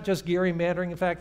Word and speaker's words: gerrymandering: There is this phenomenon called gerrymandering. And yes, given that we're here, Rose Institute people, we all know it's pronounced with a hard G.